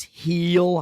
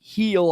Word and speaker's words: Gil: Francis for Toronto and Luis Gil, or Luis Heel, I guess is how you probably pronounce it, on the New York Yankees there.